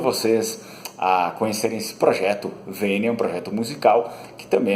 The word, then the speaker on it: Vênia: podem procurá-lo no YouTube, se escreve assim como se diz, V-E-N-I-A, Vênia.